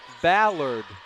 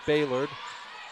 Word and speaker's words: Ballard: Her name is pronounced, her last name, it's Pollock Ballard, not Baylord.